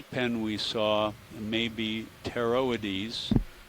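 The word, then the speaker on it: Pteroides: we saw may be teroidies beginning with silent p p t e r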